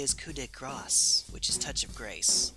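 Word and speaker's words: coup de grâce: supposed to be speaking French it is not pronounced coup de gras that is French for touch of fat Graw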